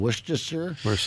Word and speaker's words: Worcestershire: Is that how it's pronounced? Worcestershire?